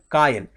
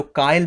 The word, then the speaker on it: kayal: ये भी इंपॉर्टेंट है, ध्यान रखिएगा, कायल, KAYAL, मतलब ऐसे प्रोनाउंसिएशन बता दिया मैंने।